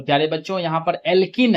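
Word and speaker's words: alkene: तो प्यारे बच्चों, जब एल्केन, तो जब इसका उच्चारण करते हैं तो एन आता है अंतिम में, एल्किन, तो उच्चारण करते हैं तो इसमें इन आता है, एल्काइन, और जब इसका उच्चारण करते हैं तो आइन आता है, ठीक है।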